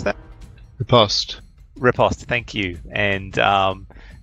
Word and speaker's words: riposte: And it follows quickly with a riposte. How do you pronounce that? Riposte.